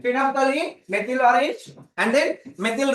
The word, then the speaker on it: phenolphthalein: Phenolphthalein. Phenolphthalein. Okay. Phenolphthalein. L is silent here. Phenolphthalein.